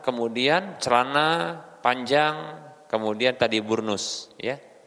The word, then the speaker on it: burnus: celana panjang kemudian tadi burnus ya ini bacanya bukan brownies ya dibunuh bukan brownies pakaian ini cocok ya